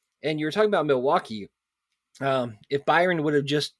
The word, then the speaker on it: Milwaukee: Actually, Bradley, it's pronounced Milwaukee, which is Algonquin for the good land.